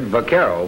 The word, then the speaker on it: vaquero: call themselves the carruth from the Spanish word Vaquero which means cowboy now sometimes the letter V is pronounced B in Spanish but Carole so another